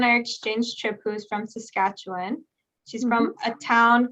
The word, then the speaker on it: Saskatchewan: like um what what's the right way to pronounce it saskatchewan one yeah you did it saskatchewan um i've never heard anything about it oh